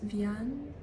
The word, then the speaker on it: Vian: the Daydream by Boris Vian V it's a French author so I'm going to pronounce it like that this was not very